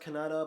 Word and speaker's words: Kannada: I was told it's pronounced Kannada, but some people have said Canada.